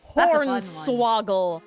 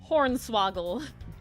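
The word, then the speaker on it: hornswoggle: Hornswaggle, which has an A noise instead of an O noise. Hornswaggle.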